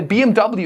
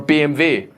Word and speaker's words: BMW: Like I say, I I now say uh you know, Volkswagen instead of Volkswagen. Yeah, I mispronounced my own I say BMW instead of BMV.